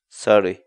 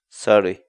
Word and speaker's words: saruy: series videos where we teach you how to pronounce certain words in Quechua so our word of the day for today is sorry sorry sorry in English the Quechua word sorry means to